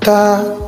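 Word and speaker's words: 他: ou elle au pluriel tu vois en chinois ta est utilisé pour il et ta pour elle mais à l'oral il se prononce exactement pareil cela se change seulement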